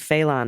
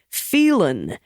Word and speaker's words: Phelan: slight correction on Dade felon in Texas his name is pronounced hiccup Phelan I